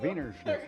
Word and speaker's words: Wiener Schnitzel: Wiener Schnitzel? Wiener Schnitzel, Okay.